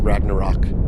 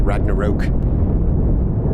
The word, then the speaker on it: Ragnarok: very very goofy okay and I know it's pronounced Ragnarok sorry I don't know why I'm calling it Ragnarok okay okay let's let's see how we're doing